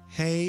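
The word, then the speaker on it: ה: next level of being hey is pronounced as an H as in the word him and at the end of a word it is usually pronounced as an ah its meaning is window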